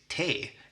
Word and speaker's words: T: Then we have the letter T, which is funny because it's exactly the same in Swedish as in English, but pronounced differently. So Swedish T is te, and it means tea.